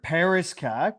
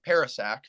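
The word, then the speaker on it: Parascak: that's really all uh Terk Paris kak did I pronounce that correctly or no uh Paras saac but okay my bad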